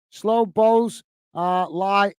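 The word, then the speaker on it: Szoboszlai: mate uh Rich po sport saying slow block slow bows uh lie is how I'd uh pronounce the Liverpool Hungarian star player slow boss slob Bosley slob Bosley okay I'll try that I'll see if I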